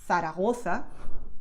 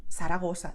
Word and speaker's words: Zaragoza: So both are correct, okay? The Latin American sound and the Spanish sound. So to simplify it a little bit, you can do whatever you want. I mean, for most people, it's simpler and comfortable to use this sound. So instead of saying Zaragoza, just saying Zaragoza, and everybody will understand you, so don't worry about it, okay?